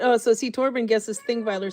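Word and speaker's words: Þingvellir: So you pronounce it Thingweiler. A Thingweiler.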